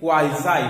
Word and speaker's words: quasi: quasi-passing this particular quasi the original pronunciation of this is quasi this is actually quizi which means almost this means almost so